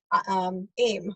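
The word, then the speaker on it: ऐं: But the teacher that I had pronounced it Aim, like the toothpaste.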